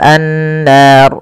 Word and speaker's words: النار: Kemudian pelafal an-nar. Di sini ada gunnah. Pada lafal nun, cara membacanya yaitu ditahan suara nunnya. Ashabun bun, baru lepas nar. Dan ro di sini kita hukumi dengan ro tafkhim. Ro yang tebal. Tidak boleh dibaca dengan ro tipis.